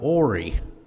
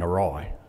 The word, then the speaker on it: awry: of thus so or things for me used to go ori until somebody said you mean awry so what are they